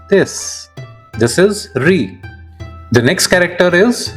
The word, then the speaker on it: リ: This is ri.